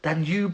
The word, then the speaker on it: Danube: Danube like lube.